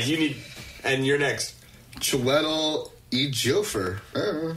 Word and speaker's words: Chiwetel Ejiofor: Yeah, that's chi, as in like chi flat iron. Like chi. Or chai. Chi. Chiwetel. Chiwetel, that's it. And then. Chai tea. The J is silent.